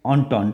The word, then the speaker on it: entente: बेटा इसकी स्पेलिंग है ENTENTE, लेकिन यह एक फ्रेंच वर्ड है. इसका मतलब होता है अंडरस्टैंडिंग. ENTENTE, right. इसको ऑन्टॉन्ट पढ़ते हैं.